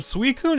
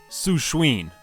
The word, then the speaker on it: Suicune: The head crest is a bit strange, but Suicune is a solid design overall. Also, as a kid, I would pronounce this Pokemon as Sushween.